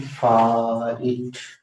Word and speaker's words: fight: अब देखो कैसी अजीब स्पेलिंग होती है, इसमें जी भी आता है, लेकिन बोलते हैं फाइट, और आई भी तो उच्चारण वैसे नहीं होता है, एच का भी तो नहीं होता है।